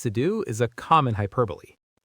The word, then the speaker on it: hyperbole: And key number three, remember the Greek origin, hyperbole, meaning to throw beyond. This will help you remember both the meaning and the pronunciation, which has its roots in that final e sound.